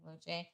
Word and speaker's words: Luce: then I will say the Ferrari one says the polarizing Ferrari Luce I think it's pronounced Luce.